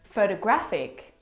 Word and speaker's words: photographic: The third example, photographic, the stress is on the third syllable.